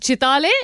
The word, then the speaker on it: Chitale: So the name of the brand is Chitay Bandhu which means Chetay brothers.